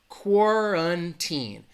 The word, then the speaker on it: quarantine: the word quarantine so it has three syllables and that the stress is going to be on that first syllable that qu a sounds like cor cor quarantine it has that schwa that second syllable has an sound and if you don't